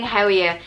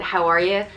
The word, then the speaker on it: how are you: the way i'm saying howie and that's my husband would pronounce it howie and because he's from dublin i'm from wicklow so i'd pronounce it how are you but um it means